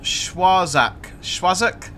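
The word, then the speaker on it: Schwarzach: come on uh NG it's pronounced schwozak you've just come here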